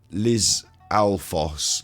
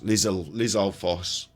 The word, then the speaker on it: Lizalfos: Lizalfos. Lizalfos. Stalfos. That's why I thought it was Stalfos, because Foss. Lizalfos. Lizalfos.